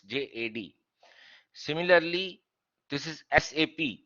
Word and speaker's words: SAP: SAP, people pronounce it SAP, which is wrong. It is SAP.